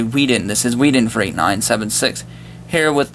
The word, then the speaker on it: Whedon: I say Whedon.